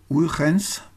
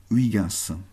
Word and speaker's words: Huygens: Alors, la prononciation réelle de son nom est en hollandais est Huygens, mais je l'appellerai, comme on dit en France, Christian Huygens.